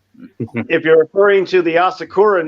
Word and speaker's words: Asakura: them are saying asakura it's actually osakura is without the a it's Sakura which is the cherry tree so it's asakura famous Samurai Clan okay